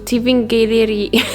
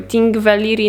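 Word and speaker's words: Þingvellir: next we went to Tiffin Gallery I think I pronounced it wrong so sorry Ting Valeri National Park it's an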